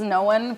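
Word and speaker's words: Nowun: other Hub I've decided his name is no one but it's spelled n o Wu n oh no one no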